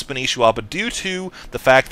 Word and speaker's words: Spanishiwa: Uh, people are angry at me because they feel like I'm mispronouncing his name, which they say should be Spanwa. Well, I just want to clarify his name actually is Spanishwa, but due to the